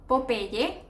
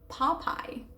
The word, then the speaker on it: Popeye: Of course, in English, when you see pop and then I, it's Popeye, Popeye. But of course, we try to Spanishize things and we say Popeye. But like I said, Popeye, Popeye.